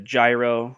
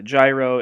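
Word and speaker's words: γύρος: Just like when you go to get a gyro, it's not a gyro, it's called a gyro. And so a gyro is a sandwich, a Greek sandwich that you get, and it is pronounced ya.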